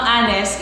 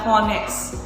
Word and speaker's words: honest: And take note na ang honest is silent. Silent H. So, hindi natin babasahin na honest. It should be honest. Okay? So, it has a vowel O sound.